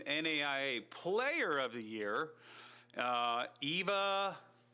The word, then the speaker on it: Eva: Also, AVCA All-American First Team NAIA Player of the Year, Eva. Oh, it's spelled EVA. Sorry. That's Ava.